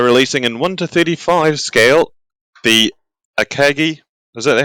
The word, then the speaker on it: Akagi: border models are releasing in 1-35 scale the akagi is that how you pronounce it uh yes the ikeji bridge with